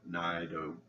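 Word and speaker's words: Naido: James and Freddie notice Naito. I'm calling her Naito because Nye rhymes with blind.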